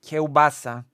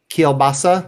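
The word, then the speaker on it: kiełbasa: it's just I'm gonna teach you some pronunciation kobasa kobasa kassa kobasa yes also I'm going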